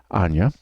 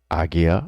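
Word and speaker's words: Ajna: Anya, third eye, or Agya or Agnya, depending on how you resonate with how to say it. My people call it Anya.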